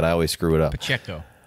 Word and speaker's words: Pacheco: how do you give me give me the pronunciation again i always screw it up pacheco pacheco all right well we appreciate you joining the